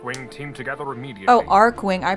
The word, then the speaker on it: Archwing: get your arc wing team together immediately oh arc wing i pronounced it enemy lines it's not archwing that's preventing us from leaving roger god speed